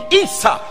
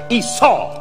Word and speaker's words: Isa: Because many of the children is named Isa, or some Arabs pronounce it Esau. That's right. Like Jacob and Esau.